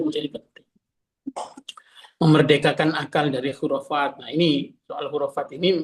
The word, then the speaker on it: khurafat: C-nya itu dulu CH kan dibacanya khurafat itu ch ya. K itu pakainya CH dulu.